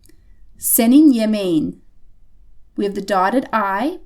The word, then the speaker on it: yemeğin: This ends in the letter K, so this is going to become a soft G again. Senin yemeğin.